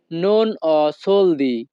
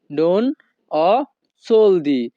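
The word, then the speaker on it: non ho soldi: আমার কাছে টাকা নেই এই বাক্যের ইতালিয়ান ভাষা হবে নন অ সোলদি। নন অ সোলদি। ইতালিয়ান ভাষাতে HO এর উচ্চারণ হবে অ।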